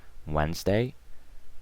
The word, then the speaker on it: Wednesday: have Sunday Monday Tuesday Wednesday to these silent okay so don't pronounce the D Wednesday Thursday Friday and Saturday